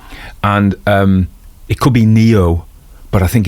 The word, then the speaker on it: Ngaio: Anyway, at least I got Nio Marsh. I think Nyo. It's a Maui name apparently. We the G is silent.